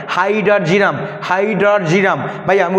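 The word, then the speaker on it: hydrargyrum: iron হল কি ফেরাম তাই এফ মার্কারি হল হাইড্রারজিরাম হাইডারজিরাম হাইড্রারজিরাম ভাইয়া আমি উচ্চারণটা সাইডে লিখে রাখছি অনেকে উচ্চারণ করতে ভুল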